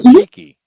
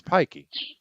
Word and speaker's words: Peaky Blinders: Well, that's not how you pronounce that word. It's Pikey. It's not Peaky Blinders? No, it's Pikey. Pikey is an Irish traveler, very similar to a gypsy. Peaky sounds more like you're looking through blinds.